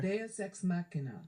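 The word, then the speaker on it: deus ex machina: So, in Starflight, the Crystal Pearl basically acts as a DSX Machina. I'm going to check the pronunciation on that. Let's see here. DSX Machina.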